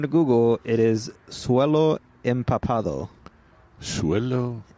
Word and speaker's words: empapado: According to Google, it is suelo empapado. Suelo empapado? Empapado. Oh, empapado. E-M-P-A-P-A-D-O. Okay. There you go. So, yeah. But we haven't seen that. We haven't. We haven't seen it's a rare suelo empapado.